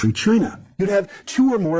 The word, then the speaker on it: Qi: northern state of chi qi pronounced chi the rulers of qi